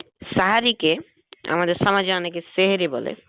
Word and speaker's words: সাহারি: আগে, সেটাকে বলা হয় সাহারি। আর সেহের বা সিহর, এটা হচ্ছে জাদু, অর্থাৎ সেহেরি বলে জাদু হয়ে যায়, মানে উচ্চারণগত পার্থক্যের কারণে। তবে যেহেতু এটা ভাষাগত একটি